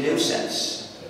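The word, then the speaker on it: gNewSense: and another recursive acronym and there is a new sense whose name is also a joke it's spelled g new sense g-n-e-w-s-e-n-s-e but my title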